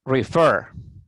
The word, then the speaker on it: refer: Aquí esta pronunciación es refer. ¿Ven? Refer. Aquí yo puse en letra mayúscula la sílaba fer. ¿Por qué? Porque el verbo es de dos sílabas, refer, pero la sílaba que lleva el acento, que lleva la pronunciación más fuerte es la última sílaba, fer.